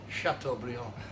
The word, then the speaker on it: Chateaubriand: And the little piece behind it is Chateaubriand. That's how you say it. Chateaubriand.